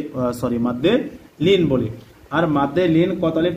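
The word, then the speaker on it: بل: লাহুম, হুয়া খায়রাল লাহুম বাল হুয়া, বাল বা লাম জবর বাল, বা লামকে ধরেছে, বা লাম জবর বাল, কোনো টান হবে না, তাড়াতাড়ি উচ্চারণ হবে।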